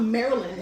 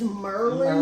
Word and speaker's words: Maryland: in silver springs it's not maryland it's merlin merlin so we're going to